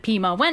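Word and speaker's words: 弼马温: Jade Emperor, who appoints him the position of Pima Wen, which makes him Correct pronunciation is Pi Ma Wen.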